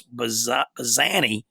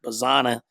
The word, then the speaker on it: Bazzana: And then the other finalist, Quinn, is Oregon State infielder Travis Bazzani. So I guess that's how you say it, Bazzana.